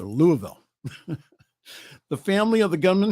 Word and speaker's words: Louisville: Louisville shooting it's not Lewisville it's Louisville got to pronounce it all together Louisville the family of the